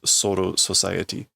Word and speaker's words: Soul Society: the kanji is corpse Soul world but the pronunciation is soo society which is clearly an English word the restoration